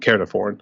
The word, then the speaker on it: Caernarfon: It was the one in Conway, and then there was one called Caernarfon. I mean, that's how you pronounce it.